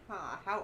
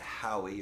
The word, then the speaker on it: Hawe: How do you spell it? Hawe. Hawe. Okay. I think I And have it's a not hard. how. It's not Howie or it's- Hawi.